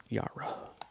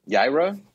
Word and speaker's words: Yaira: And that's how it's pronounced, not Yara. Do it. Do it. Yaira?